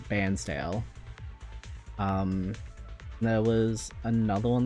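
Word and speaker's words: Bairnsdale: It's spelled like you'd say Barnesdale, but you actually call it Bansdale.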